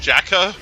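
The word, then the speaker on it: JAKQ: the second super set tie uh was called jacka uh and it's spelled j a uh kq uh and it's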